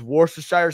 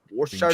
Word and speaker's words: Worcestershire: But instead of using sugar and crab meat, you just use Worcestershire sauce and bacon, and you do crab rangoon exactly as is, but use Worcestershire sauce and bacon instead.